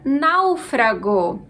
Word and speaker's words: náufrago: tem a palavra Náufrago vamos dividir as sílabas não frago a sílaba mais forte é Now que inclusive levam acento Essa é a penúltima sílaba da palavra logo a gente tem aqui uma palavra proparoxítona todas as proparoxítonas são